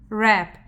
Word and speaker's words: wrap: Just like wrap, app, wrap, and this W is silent.